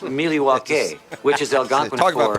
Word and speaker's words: Milwaukee: Actually, it's pronounced Milwaukee, which is Algonquin Talk about for pandering.